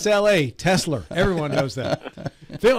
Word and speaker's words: Tesla: Consumer yes with your rate increases Phil please pronounce te S L A for me how do you pronounce it tesler Tesla thank you you said it I've been